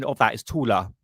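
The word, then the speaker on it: Thule: to uh t to thor gazelle shaft but the real pronunciation of that is tula that's the German pronunciation. So the thor society is the German pronunciation is tuler gazelle shaft which means taller society.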